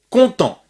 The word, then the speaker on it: content: Content finit par un T. Donc on ne prononce pas le T.